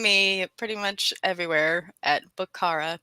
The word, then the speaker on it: Bookchara: pretty much everywhere at bukhara b-o-o-k-c-h-a-r-a and steve asked me about the pronunciation earlier people say it book chara and that's okay i don't mind um